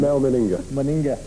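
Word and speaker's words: Mal Meninga: How do you pronounce him? Mel Meninga.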